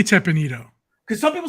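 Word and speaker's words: Teppan Edo: how do you pronounce it John I say teppanito because some people say I used to say that too and then someone told someone corrected me one time in Disney they're like no it's tapana doe so I said oh okay so I sort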